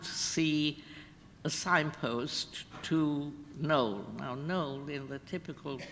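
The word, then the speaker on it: Knole: And we didn't know where we were going, but we happened to see a signpost to Knowle. Now, Knowle, in the typical British spelling, is spelled K-N-O-L-E, right?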